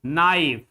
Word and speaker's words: knife: N always remember that whenever you find K before N K before N like in knife.